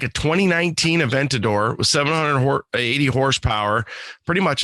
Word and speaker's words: Aventador: the word right uh avartador i think uh it's an aventador aventador okay so yeah that's an n not an r the way i wrote it aventador um it was like a 2019 aventador with 780 horsepower pretty